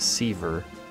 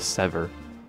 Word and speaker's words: Siva: Why does she pronounce it Seaver instead of Sever?